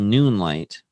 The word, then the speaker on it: Noonlight: It's called Noonlight. But it is Spell that out for people that didn't hear you properly.